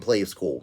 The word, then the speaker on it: Playskool: Playskool as in the brand Play School. It's spelled with a K.